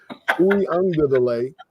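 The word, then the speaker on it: Uiagalelei: So you got players like DJ, I can't pronounce his last name, the quarterback from Uwe Ungalale. There you go. Uwe Ungalale.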